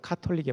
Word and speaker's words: 카톨릭: 그러나 그의 시대의 카톨릭은, 저는 가톨릭이라고 발음 안 합니다. 원어상 카톨릭에 맞으니까. 카톨릭은 예수님의 십자가를 믿을 뿐만 아니라 인간의 공로가 쌓여야 구원받는다는 구원론을 펼치고 있었죠.